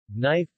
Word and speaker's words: knife: words have silent letters the k is silent in the initial k n knife knob no knowledge